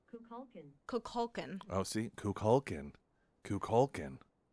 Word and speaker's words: Kukulkan: and it's pronounced Kukulkan.